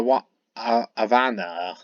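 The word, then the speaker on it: Ivana: know this is a want aana that's how you pronounce her name I V A N A I believe I do apologize if I pronounce her name wrong Avana um I don't have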